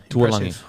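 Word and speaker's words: Tualagi: I thought Kelma Tuolangi, is that how you say it? I believe so. Yeah, Tuolangi.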